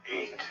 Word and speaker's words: eat: Eat. Eat. Eat. Percebem que é esse I bem marcado e o T na ponta da língua, vamos dizer assim. É um T fraco.